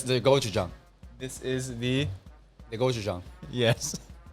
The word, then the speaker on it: gochujang: snap of korea okay gochujang now if you say gochurong gochujang if you say gochi wrong uh-huh um it could either mean penis oh shout out or it could mean pepper so how do you